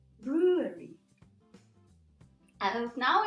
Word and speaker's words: brewery: Well, the sound W, okay? It's not a consonant, it's not V. I know that in German, for example, yes, in Polish, they see a consonant when they see this letter, but it's not a consonant. And in this particular case, it's not even pronounced, so brewery, brewery.